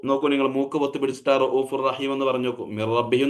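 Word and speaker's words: رَءُوفٌ رَحِيمٌ: അതേ സമയത്ത് റഊഫുർ റഹീം എന്ന് നമുക്ക് മൂക്കൊന്ന് പൊത്തി പിടിച്ച് ചോദ്യം നോക്കിയേ.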